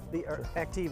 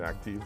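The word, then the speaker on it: Aktiv: Let's move on then to the Active then. Active, excuse me. I always have the US version of way of pronouncing it. Let's talk about that. Well, we like the pronunciation Active. That's the German pronunciation.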